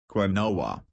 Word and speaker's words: quinoa: Quinoa, pronounced quinoa.